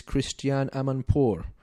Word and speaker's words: Christiane Amanpour: approved cooperation with the US comes from CNN's Christiane Amanpour did I say her name right yeah she's